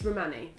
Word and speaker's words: Rhimani: It's Rhimani.